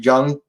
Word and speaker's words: Zhang: I've heard it's pronounced Zhang. Weili Zhang. Soft J, I guess.